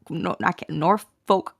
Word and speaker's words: Norfolk: Is the L silent? Norfolk. Folk. Norfolk. Oh, F-U-K.